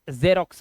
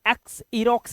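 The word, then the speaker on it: Xerox: है जैसे यह एक जेरोक्स मशीन के लिए बोलते हैं जेरोक्स ठीक है इसे एक्स रोक्स नहीं बोलेंगे इसे जेरोक्स बोलते हैं और इसको एक्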